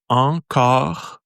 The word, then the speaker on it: encore: So it's and then, so the sound, it does encore. So it's very subtle. See, the R is very subtle.